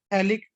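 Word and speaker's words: phthalic: और इसका common name होता है, इसे बोलते हैं थैलिक एसिड बोलते हैं, PS साइलेंट होता है इसका।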